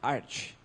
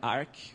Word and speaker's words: Arch: de e a pronuncia a pronúncia oficial é arte como Archer de arqueiro né não é Arc ou outra coisa do tipo então o que que